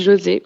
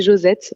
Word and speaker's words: JoZet: C'est vrai que phonétiquement, ça se dit José, c'est complètement vrai. En réalité, c'est Josette.